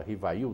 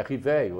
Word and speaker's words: Rivail: hipolit Leon denisar rivio que muita gente fala Rivail nós temos o vício da nossa linguagem de buscar a grafia mas o nome a pronúncia certa é rivio é francês Riva se se lê mas do professor Rive na realidade é o correto de se falar Uhum Então o quanto o